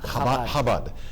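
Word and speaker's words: Chabad: Rabbi of the Shabad how do you pronounce that habad I can never say that quite like I should I don't have the hoota to say that quite right good to have you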